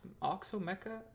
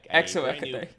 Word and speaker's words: Exomecha: they don't look like how do you pronounce it? Oxomecha? Exomecha? Wait, was I pronouncing an E as an O? All right, that's Am I an idiot? Exomecha.